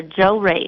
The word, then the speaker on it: Jorge: It's Joe and Ray together. Joe Ray.